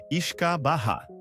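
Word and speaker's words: uisce beatha: O nome é uma versão abreviada e anglicizada do termo gaélico o beeata. Pronuncia-se iskaha.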